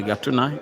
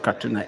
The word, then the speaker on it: Gatuna: It is called Gatuna in Rwanda, Katuna in Uganda. The difference is how they pronounce the letter K in comparison to G.